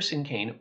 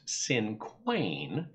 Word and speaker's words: cinquain: Now, I should also mention that I know the name looks like it should be pronounced Cinquain because of that Q-U in the middle, but it's actually pronounced Cinquain.